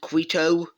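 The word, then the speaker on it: Quito: but we have Colombia sweeping through Ecuador capturing quo that's how you pronounce it and uh don't show e is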